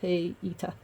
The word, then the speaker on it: Haida: with 2 dots, and Haida should also, as far as I can find, be pronounced as 2 separate vowels, Hey-ita.